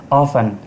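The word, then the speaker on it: often: ऑफन अक्सर T silent है।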